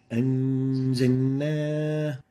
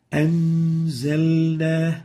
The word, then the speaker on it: أنزلنا: أنزلنا. So the lam should be clear and obvious. It should never be merged or mudgham. So avoid merging the lam into the following letter.